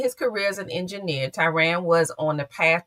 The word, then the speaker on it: Tiran: Tyran, am I saying it correctly? Good evening. Good evening. Hey, how you doing? Dr. You are Tyran.